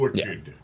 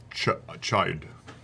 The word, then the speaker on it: orchid: TRAVIS: Or-chide. LAURA and ASHLEY: Orchid. TRAVIS: No, it's not kid. ASHLEY: Sometimes when those letters are together, it sounds like a K.